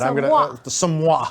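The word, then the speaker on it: Somua: Or how do you pronounce that? Somwa.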